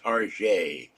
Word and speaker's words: Target: But his wife went to Target all the time, so he called it Target, Target, as you would pronounce the French pronunciation.